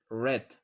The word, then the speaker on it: read: The present read is pronounced read, read. The past is pronounced red, como el color red. Now read the story and underline the correct verbs.